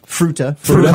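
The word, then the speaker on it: Fruita: I think I'm pronouncing that right. It's the word fruit with an A on the end. Fruta, Colorado.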